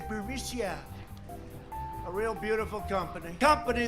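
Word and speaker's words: Burisma: with the burmese executives so this uh buremisia bermucia they say pronounce it borisia a real beautiful company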